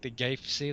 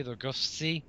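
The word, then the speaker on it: Goethe: go to se oh I am saying that wrong it's g o e t h e the god ah I think the original pronouncing is the like the G SE the G SE something like that there'll be something different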